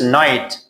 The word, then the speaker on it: night: This is night. GH is silent here.